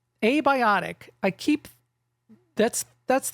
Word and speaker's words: Abiotic: Like that a just sticks out there so much.